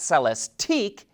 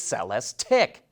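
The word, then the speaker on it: Celestiq: the cell s tick and make sure you pronounce it right it's not celeste eek its sell s tick there you go now you're as fully confused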